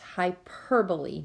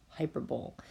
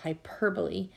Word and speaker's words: hyperbole: about today is pronounced hyperbole not hyperbole please put the accent on the second syllable hyperbole and it's a gross